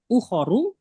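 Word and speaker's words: أُخَر: Ukharu itu jamak dari ukhro. itu ya artinya yang lainnya tapi pendek ya ukharunya pendek ya berarti iya pendek iya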